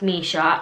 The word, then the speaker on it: Mischa: how to pronounce it it is pronounced Misha and that spelling just say Misha but when I made